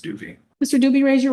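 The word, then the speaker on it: Jacdui: J-A-C-D-U-I, spelled pronounced Doobie.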